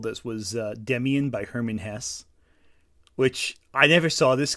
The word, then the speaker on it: Hesse: It's pronounced Hesse.